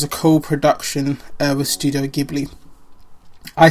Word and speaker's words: Ghibli: And as mentioned before, it was a co-production uh with studio Gibli. I say Gibli. I know some people say Gibli, I say Gibli.